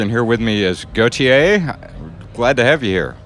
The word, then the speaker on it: Gotye: I'd just say however you'd pronounce Jean-Paul Gaultier's surname. Mm-hmm. That's how you pronounce Gotye.